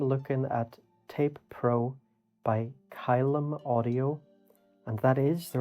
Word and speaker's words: Caelum: tutorials today i'm looking at tape pro by kylem audio and that is the right pronunciation because i have checked with the developer so it's not column it's not klm it's kylum i do try to get developers names right